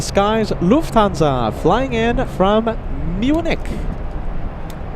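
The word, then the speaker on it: München: We have the king of the skies, Lufanza, flying in from Munich. How do the locals say it? The locals say mincin.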